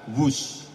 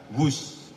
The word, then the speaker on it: Whoosh: o o s h dibaca wus ini diinspirasi dari suara yang melesat dari kereta berkecepatan tinggi ini dan singkatan dari waktu hemat operasi optimal sistem hebat sekali lagi w h o o s tapi membacanya wus keret cepat Jakarta Bandung